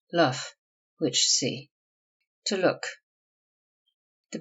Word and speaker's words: Loof: Loof, usually pronounced and spelled luff, which see.